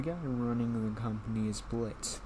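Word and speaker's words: Blitzø: running the company is blitz the o is silent he has an adopted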